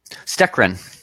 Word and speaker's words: Stekren: What's Stekren. What's it? Stekren. I still can't pronounce it, but that's what it is. That's correct.